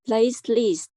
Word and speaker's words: platelet: Platelets. No. So pronounce plate.